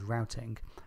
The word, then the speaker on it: routing: Now firstly, I know that Americans pronounce that word as routing, but I'm British and we have an international audience, so throughout this episode I'll be pronouncing it as routing.